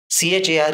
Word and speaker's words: char: C-H-A-R is pronounced as char.